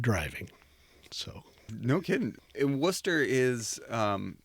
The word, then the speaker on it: Worcester: And Worcester is, it's not spelled like Ohio's Worcester.